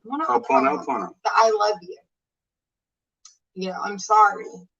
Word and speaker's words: Ho'oponopono: Ho'oponopono. Ho'oponopono.